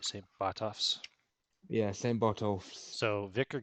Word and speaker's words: Botolph: How do you spell that? B-O-T? Yeah, Botolph. O-L-P-H. I see it here. Yep. Saint Botolph.